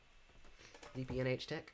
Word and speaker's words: DPNH Tech: It's just DPNH Tech.